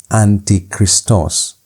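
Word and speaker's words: ἀντίχριστος: So how do you pronounce this word? It's antichristos. Antichristos.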